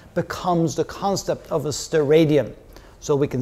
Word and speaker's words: steradian: What is a steradian? Is that how you pronounce it?